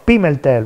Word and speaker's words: Pimentel: Allora, Paolo, come si pronuncia questo cognome? Pimentel, così? Pimentel, va bene? Sì, sì, benissimo.